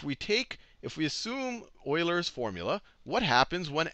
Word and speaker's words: Euler: here is if we take if we assume Oiler formula what happens when X is equal to